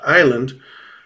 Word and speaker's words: island: It explains why we don't pronounce the S in isle and island, because it never really was there to begin with.